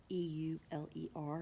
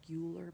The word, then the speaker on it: Euler: was very good at doing the Euler method e-u-l-e-r it looks like Euler but it's pronounced Euler and that's when you analyze all